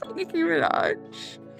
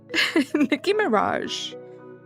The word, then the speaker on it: Nicki Minaj: I cannot for the life of me actually remember this song because I just accidentally started singing Super Nicki Minaj. Nicki Mirage.